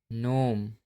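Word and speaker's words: gnome: जब एन से पहले जी आता है तब हमेशा जी साइलेंट होता है। जैसे डिजाइन, रिजाइन, कंपेन, नोम, शाइन।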